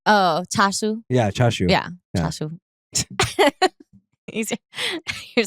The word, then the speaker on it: chashu: is sh yes yeah charu remember CJ was here and he was like that's not how you pronounce it it's like chashu oh chashu yeah chashu yeah chashu